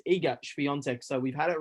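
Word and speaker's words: Iga Świątek: so eagest fiance and she actually corrected everybody it is eager beyonce so we've had it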